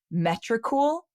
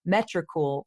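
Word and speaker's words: Metricool: we use something called metrical I think that's how you say it it's me t r i c ool and it's for tracking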